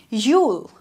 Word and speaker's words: you'll: This will be pronounced as ule. Ule.